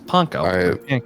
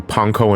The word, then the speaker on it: panko: I say uh I kind of switch between Panco and Panko. Yeah. I think Panko is actually the correct way. I think it's supposed to be pronounced Panko. Yeah.